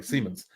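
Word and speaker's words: Siemens: then even Landing the the co-op at sim Simmons am I saying it right Seaman Seamans sorry Seamans and and then just like do you feel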